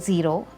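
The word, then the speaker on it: Zhero: the factories of therapy the brand is called zero which stands for zero waste and it's spelled with a Z it's well said h er oh so we've included the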